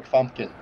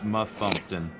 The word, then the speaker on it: Mumpton: colleague Dr clear MC fumpkin Dr MC fumpkin it's mumpton it's mumpton uh part I